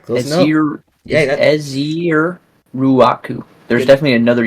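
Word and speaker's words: Ezeiruaku: I got you with the pronunciation. Yep. Let's hear it. Uh Aziruaku. Aziruaku. All right, close enough. Ezier Ruaku.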